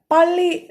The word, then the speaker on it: 빨리: 빨리, so 상비읍 is literally pronounced as pa, with a lot more stress. Like we told in the case of 따라와, 빨리 also gives a lot of stress for 상비읍.